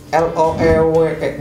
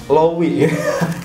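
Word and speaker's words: Loewe: yang kedua ada dari elo eek dibacanya low with agak jorok juga sih ini juga brand Luxury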